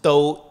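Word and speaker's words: 道: Actually, that same character. Yeah. Is pronounced Do in Cantonese and also in Japanese.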